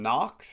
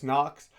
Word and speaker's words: Noakes: My name's Evan Jacobs back on the West Coast and I am doing Abdullah Mason vers Knox. Is that how you say it? No. Knocks.